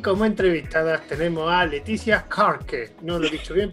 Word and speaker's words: Laetitia: noticia soy francesa llevo leticia como la reina pero no se escribe